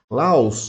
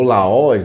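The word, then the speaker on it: λαός: Laos, na Bíblia, ou Laós, depende aí da tradução ou da forma como se pronuncia, o sentido dela, no original, quer dizer povo.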